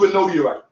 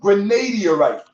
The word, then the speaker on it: granodiorite: It's called granodiorite. Okay? The stone is not pronounced granadiorite. It's pronounced granodiorite. The long O sound is not enunciated, as if it is a long A.